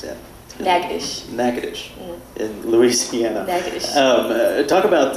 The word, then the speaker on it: Natchitoches: My number one question about Northwestern State, how do you pronounce the name of the town that it's in? Natchitoches in Louisiana.